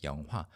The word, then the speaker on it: 영화: But the standard pronunciation is 영화.